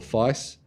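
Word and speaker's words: FAISS: It turns out there's no agreed upon pronunciation. So, either way, I guess, is fine.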